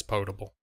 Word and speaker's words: potable: first episode or two I wasn't sure if it was probable or potable and I had to pronounce that word and that I would check later and I said four but I'm pretty sure it's potable no it turns out it's